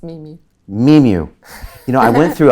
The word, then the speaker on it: Mimu: I always forget to say it, but it's like me and music. Mimu. But it's spelled M-I-M-U, so it's really okay.